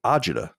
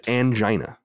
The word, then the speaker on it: agita: Ryan, the word is agita. You're saying a totally different word, which is angina.